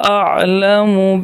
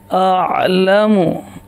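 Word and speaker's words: أعلم: وما انت، وما انت اور جو، انت اعلم به، تلفظ صحیح کیجئے، میرے ساتھ پریکٹس کریں. اعلم اعلم، جب عین پہ جائیں گے تو حلق میں آواز جائے گی، اس سے پہلے نہیں جائے گی.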